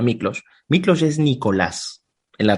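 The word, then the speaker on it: Miklós: Mi padre es húngaro, mi madre es peruana, y Miklos, ese es Miklos, se lee Miklos, pero se pronuncia Miklos.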